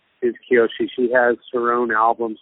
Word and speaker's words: Kiyoshi: Is that how you pronounce her name? Is she playing with you? Yeah, Kiyoshi.